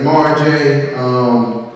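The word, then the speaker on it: Mar-J: It's spelled M-A-R-J. I had to add the dash because I got tired of people calling me Marge Simpson.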